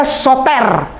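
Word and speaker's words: Σωτήρ: Nah terakhir yang kayak terbalik itu bacanya Soter.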